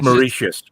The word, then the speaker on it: Mauritius: snack for Dutch settlers on the island of merit is that last one I'm sure I completely butchered I no one's bringing in I'm gonna